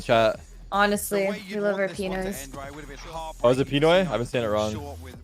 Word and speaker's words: Pinoy: Honestly, we love our Pinoys.